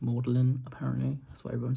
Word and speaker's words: Magdalen: Magdalene, but it's pronounced Mlin apparently.